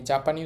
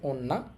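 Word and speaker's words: 女: এই কাঞ্জির কুনিয়মি, মানে জাপানি উচ্চারণ হবে ওন্না, আর অনিয়মি চীনা উচ্চারণ হবে জো।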